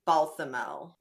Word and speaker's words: Balthamel: So next we have Balthamel. Is that how it's pronounced?